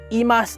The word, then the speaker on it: eMas: This eMas 7 is just the first of many more